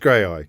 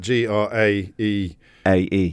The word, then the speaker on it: Graeae: Yeah, that that was I can't pronounce Graeae. It is just Graeae cuz it's not cuz it's spelled g r a e a e a e.